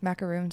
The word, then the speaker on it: macaroon: the the sandwich ones macaroons are like the coconut thingies do you pronounce it differently i had no idea is that true one has one o and the other has two o's yes is that true i never